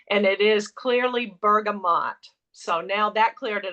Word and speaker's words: bergamot: it's not in our regular line it's called bergamont mint and I actually I've heard it pronounced Bergamo and bergamont so I went to